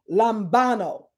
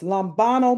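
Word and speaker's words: λαμβάνω: That word overtaken, it's the Greek word lambano. It means, it's spelled L-A-M-B-A-N-O, lambano.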